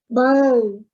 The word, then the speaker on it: bone: The rule says the first one is long, second one is silent. Who knows this word? Bone. Bone. Look at that long O.